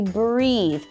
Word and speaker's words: breathe: I can hardly breathe here is a hint on how to pronounce the word breathe you'll see an e at the end this also lets us know that this is the verb to breathe then we want to make that e e sound I can